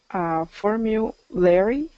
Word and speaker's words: formulary: Formulary. Yeah, good. So this one has what we call that invisible Y sound, and we get into that in week 2, is that form U, when you have a consonant